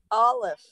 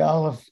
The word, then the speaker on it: aleph: the the unknown because the aleph is not pronounced but yet it's there and uh that's that's